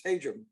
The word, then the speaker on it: Hajim: There's been Hajim, which sounds much better, but it's not correct. It's Hajim.